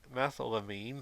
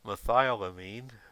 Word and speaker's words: methylamine: this compound phenylacetone and methylamine if you've watched that show you'll see it here at mispronounces Mithila mean but no no real chemists would pronounce it any way except methylamine however the methamphetamine that